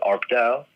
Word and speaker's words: ARPDAU: People call it ARPDAU. That's how you refer it as an acronym.